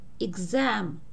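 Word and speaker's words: exam: А в положении перед ударением она передает звук «гз», например, «экзам», «экзамен».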